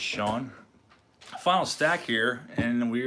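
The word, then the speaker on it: Chone: Paul Else is pronounced like Sean, so Sean Figgins.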